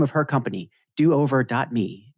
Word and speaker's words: do over dot me: do over dot me do over me is that the right way to say cynthia do over me it's do over dot me dan that's the official name of the company and it's not exactly a